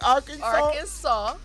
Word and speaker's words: Arkansas: because i'm like it's it seems like it should be a w so am i pronouncing it right arkansas uh-huh that is not like the saw s-a-w yeah i bet you